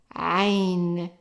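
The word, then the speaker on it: عين: the English alphabet, but we can think of like when you're pronouncing the vowels and you kind of, someone is choking you or trying to tighten the airways. So it's ah, ah, and the name of it is Ain, Ain.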